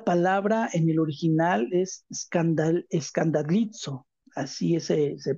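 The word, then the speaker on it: σκανδαλίζω: tropiezo es la palabra en el original es escandallizo, así se pronuncia, escandalizzo.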